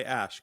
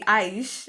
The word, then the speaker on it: Aish: And you go by Ash, correct? Actually, Aish in Indian Aish. pronunciation.